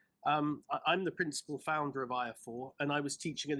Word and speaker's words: IAFOR: It's pronounced IAFOR.